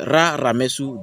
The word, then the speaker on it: Ramessou: En fait, ce n'est pas Ramsès II, c'est Ramessou II.